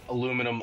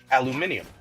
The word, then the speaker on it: aluminium: more like palladium no I think most people call you know aluminum aluminum because you know I'm an American that's how we pronounce it I know I do know that uh my college professor who was I think slovak used to pronounce it as a aluminium and i think that's how most of the world probably pronounces it so i don't